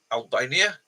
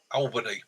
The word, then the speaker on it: Albany: capital of New York state is it a Albania B Buffalo C New York Albany sorry my my my mispronunciation alany sorry jum but yeah it looks